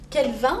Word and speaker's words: Quelven: En fait on dit Kelvin parce que ça s'écrit Q-U-E-L-V-E-N. Ouais. Tu vois, mais parce que c'est breton, on dit Kelvin, mais en fait, bah faut dire Kelvin, parce que sinon les gens n'écrivent pas.